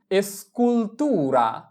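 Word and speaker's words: escultura: এস চি উ এসকু এস্কুলতুরা এস্কুলতুরা এস্কুলতুরা মানে হচ্ছে ভাস্কর্য। এস এর উচ্চারণ এস চি উ এল এ কুল তি উ তু এর আ রা এস্কুলতুরা মানে ভাস্কর্য।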